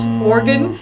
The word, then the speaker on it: Oregon: Oregon Trail, like an internal organ but the state instead.